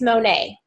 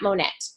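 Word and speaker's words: Monat: And so first of all, Mandy, I think it's Monet, not Monette. However you said it.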